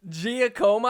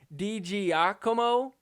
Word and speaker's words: DiGiacomo: Giacomo? How do you get that from this? Like, even if you wanted to try and mispronounce that, DiGiacomo, I don't get where Hannah's head was at.